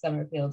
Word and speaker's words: Somerfield: just uh in linkedin my last name is spelled s-o-m-e-r-f-i-e-l-d and that that quirky spelling makes me i think one of the only best summer fields out there so and i i'd